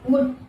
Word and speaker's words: would: சோ அத pronunciation ஞாபகம் வச்சுக்கோங்க. will அப்படின்றத ஞாபகம் வச்சுக்கோங்க. Second one would.